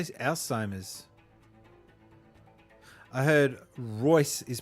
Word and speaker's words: Alzheimer's: Alzheimer's is supposed to be pronounced like a T. I say Alzheimer's.